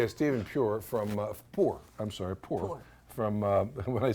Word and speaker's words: Puhr: Puhr. From when I said, how do you pronounce it? He said, just like you don't have any money.